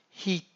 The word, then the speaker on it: heat: telaffuzlar sahip Ama biz e ve aı gördüğün olabildiğince uzatılmış i Heat yani 2 i varmış gibi ya da yayılmış bir iym miş gibi okuyoruz e e harfleri yan